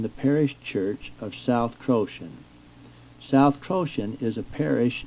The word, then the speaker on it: Croxton: It is pronounced Croton and not Croxton.